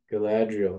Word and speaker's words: Galadriel: lady bran who's that lady oh that's Lady Galadriel she's the lady of the wood Galadriel that's how you actually pronounce it okay what is the capital c